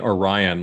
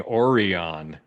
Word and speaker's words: Orion: Uh it so the thing we're we're we're joking about here is instead of saying Orion like normal people, uh they spend the whole episode saying Orion. Yes.